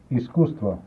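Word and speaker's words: Искусство: Iskustvo.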